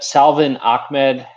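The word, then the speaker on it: Salvon Ahmed: plays at the tight end position um selva salvin ahmed yeah it's actually pronounced that way um is out and i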